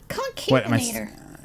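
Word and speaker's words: Concavenator: Concavinator. Am I saying it wrong? Is it Concavinator? No, you're right.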